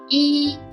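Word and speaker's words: 一: Both pronunciation are in the first tone. Let's try again. The first one, yi.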